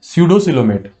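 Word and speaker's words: pseudocoelomate: पी यहां पर silent है, स्यूडोसिलोमेट, यानी सिलोम है, रिक्त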